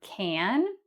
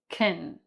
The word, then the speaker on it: can: So, actually the pronunciation goes from can, which is the stressed pronunciation, to can. That's the unstressed pronunciation.